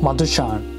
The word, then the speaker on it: Madushan: Madushan. Okay. Thank you. Which pronunciation is it okay for me to use?